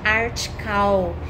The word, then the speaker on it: Artical: Artical, é isso? A pronúncia é essa, gente. Artical.